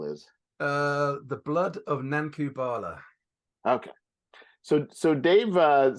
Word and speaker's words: Nanku Bhala: the proposed title is uh the blood of nankubala okay so so Dave uh submitted a initial